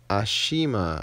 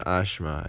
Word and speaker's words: Ashima: Ashima, I think. Not Ashma. I got a lot of complaints that I was saying her name wrong.